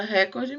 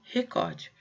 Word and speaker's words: recorde: Eu já tinha dado esse exemplo, muita gente usa recorde, mas na verdade é recorde. Paroxítona.